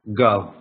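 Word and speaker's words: גב: г власовка а внизу я читаю как гав гав - это спина гав иду дальше га бо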